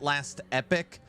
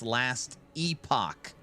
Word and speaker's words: Last Epoch: It's called somebody I called it last epic. People are saying it's actually pronounced last epoch, and it's it's some kind of uh Diablo POE clone.